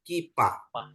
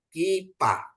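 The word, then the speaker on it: כיפה: bingung Pak Ini Pak ini KF ya Pak nadi perhatiin k ya ini ada hirik ya untuk i jadi bacanya k ya ini ada P kasih Pata bacanya Pa jadi kipa kipa ya Terus kata yang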